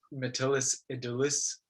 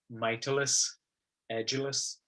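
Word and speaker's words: Mytilus edulis: uh the latin name for muscles which i pronounced metallus aedulus but apparently it is pronounced mitilus agilis that's neither here nor there but uh if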